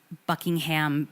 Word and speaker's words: Buckingham: we also say um Buckingham Palace it's him you don't pronounce the ham very American I always